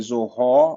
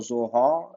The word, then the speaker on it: Zohar: You could say Zohar or Zohar. It doesn't matter.